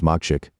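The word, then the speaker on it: makcik: In Malay, makshik is a respectful term for an older woman akin to auntie. Here phonetically rendered as machik.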